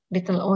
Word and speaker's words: little o: Kalau di bahasa Inggris ini little o, ada h-nya. Bukan little oh, tapi little o gitu bacanya ya.